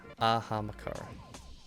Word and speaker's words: Ahamkara: Ahamakara.